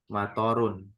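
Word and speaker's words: مطر: Ada juga bahasa Arab yang begini, toknya nggak panjang, matorun, toknya nggak panjang. Ada, artinya apa matorun? Kalau toknya nggak panjang, hujan.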